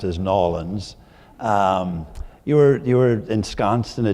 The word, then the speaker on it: New Orleans: in a place that I used to call New Orleans, and then I learned to pronounce as Nolans.